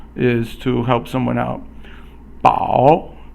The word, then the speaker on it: 饱: 饱 is third tone.